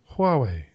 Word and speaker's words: Huawei: how to say Huawei Huawei yeah but you kind of ditch the H and it's more WWE yeah kind of kind